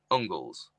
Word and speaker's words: Angles: If you think of Angles, used to be Engels, but it was actually pronounced Ungles.